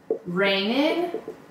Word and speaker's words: raining: It's raining. گفتیم جیه تلفظ نمیشه.